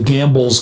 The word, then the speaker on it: Gambel: here, is called the Gambel's quail. Yeah. And it's spelled Gambel for Joseph P. Gamble, who was a pioneer naturalist.